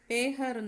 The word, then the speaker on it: पहर: பேஹர்னு தான் ப்ரொனவுன்ஸ் பண்ணணும். இங்கே பஹர்னு எழுதியிருக்கு. பிகாஸ் இந்த பக்கு அடுத்த லெட்டர் ஹ இருக்குது. ஸோ ப வந்து ஏ சவுண்டாக ப்ரொனவுன்ஸ் பண்ணணும்.